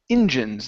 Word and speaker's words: engines: this word is pronounced engines the stress is at the beginning so this is online